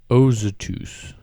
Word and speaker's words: Azotus: Philip, however, appeared at Azotus. Is that the correct way to pronounce that? Someone correct me on that. No, no. You nailed it. Ozotus.